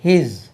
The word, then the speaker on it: his: HIS இது Z என்று உச்சரிக்கணும். ஹிஸ் ஹிஸ் double S போட்டாச்சுன்னா பாம்பு உடம்புல ஹிஸ்ன்னு, அது HIS ஹிஸ்.